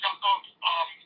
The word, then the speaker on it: Yakov: But, you know, but the pronunciation here would be like Yakov.